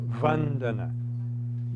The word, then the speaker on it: Vandana: Yes, Vandana, the first syllable, Vandana.